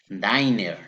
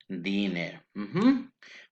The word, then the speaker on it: dinner: Remember the practice or pronunciation of this word. Have a dinner, because some students are saying diner. No, remember you are going to say here dinner.